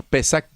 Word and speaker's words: Pesaj: Pesac, si lo si pronunciamos con esa tilda allí, Pesac, que en hebreo significa pasar por encima.